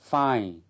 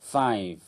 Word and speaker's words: five: của từ ví dụ chúng ta không đọc là fine hoặc là Sick mà đọc đầy đủ là five six vân vân chúng ta